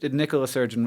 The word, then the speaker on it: Nicola Sturgeon: Nicola Sturgeon, a woman.